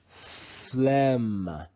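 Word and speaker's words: phlegm: word on your screen we find the letter g silent in the digraph gm the digraph gm is read with the sound of the letter m alone let's read this word together flem flem flem the letter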